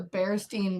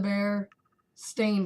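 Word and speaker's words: Berenstain: always known their name that's not their name it never has been they have never been known as The Berenstein Bears their name is the bear stain bears that is their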